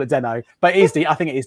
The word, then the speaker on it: Deno: So you pronounce it Deno, not Dino.